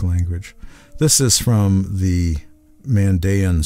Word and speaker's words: Mandaean: This is from the Mandaean scriptures, or Mandaean scriptures, to be more precise in the pronunciation of their name.